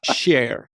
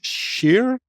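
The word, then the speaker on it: Kjær: Share. It's Sheer, but he allows those of us who are are language deficient to call him care.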